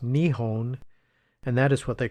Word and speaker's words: Nihon: In Japanese, they pronounce their country name as Nihon, which means the sun's origin, or more poetically, the land of the rising sun.